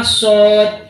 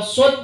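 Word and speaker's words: صاد: Kalau sin itu punya karakter tanfis, kalau sod punya karakter sofir. Kalau sin as. Kemudian kalau sin itu kategori huruf bawah, kalau sod kategori huruf atas, makanya dibaca as, lidahnya ke atas jembungnya.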